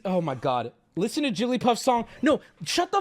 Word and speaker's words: Jigglypuff: and listen you suck Jigglypuff Jigglypuff she says her name with three syllables one more time for the boys back home Jigglypuff Jigglypuff now granted now